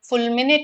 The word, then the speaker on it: fulminate: So actually both the pronunciations are acceptable. Fulminate is also correct.